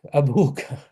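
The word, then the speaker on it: أبوك: with the wow in the middle. Exactly. Oops. I was meant to. Doesn't work. Anyways, I was trying to underline it. There we go. Abuka. It gets a special wow.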